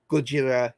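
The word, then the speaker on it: ゴジラ: print not in speaking when you speak it in Japanese you would say Gojira Thai Mika Gojira and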